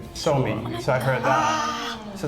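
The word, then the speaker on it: Suomi: in a different way in Finland you don't you don't say Finland you say so me so I heard that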